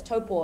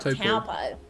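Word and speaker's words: Taupō: would piss you off so popo is toppo it's not taupo so explain you know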